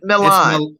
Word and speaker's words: Milan: Well, you always say Million. Million. You say Million every week. How did you spell it? Million? It's Milan.